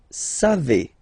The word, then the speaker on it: savez: Then vous savez, classic ending for vous, EZ, but then phonetically it's et, vous savez, savez.